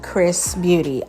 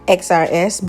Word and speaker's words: XRSBeauty: say this company's name correctly and it's actually pronounced chris beauty i was saying before in my other videos previously with them xrs but that's not what it is the unit